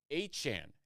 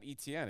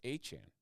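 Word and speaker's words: Etienne: Now a Saint Keshan Johnson or I should say Achan is how it's pronounced. It's not ETN, it's Achan.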